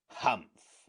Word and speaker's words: humph: one he added reassuringly humph said the sand fairy if you read this story aloud please pronounce hump exactly as it is spelled for that is how he said it hump do you know